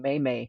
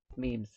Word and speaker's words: meme: remember when half of us were still saying meimei because we had no idea how to pronounce it and what they were and all of a sudden it's like that's how we communicate memes it's all about the memes well thank you